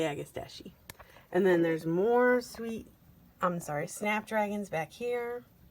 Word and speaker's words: agastache: These are agastache, or however you guys want to pronounce it. I like to say agastache.